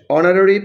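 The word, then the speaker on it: honorary: হি ইস holding dash অনারারি post. এখানে এইচ এর উচ্চারণ অ এর মত হয়েছে। সো এন হবে।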